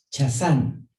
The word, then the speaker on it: chazán: la palabra número 2372, que se pronuncia y se escribe chazán, chazán, que es la